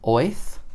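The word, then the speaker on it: Oerth: Apparently that is how it's pronounced, Oath.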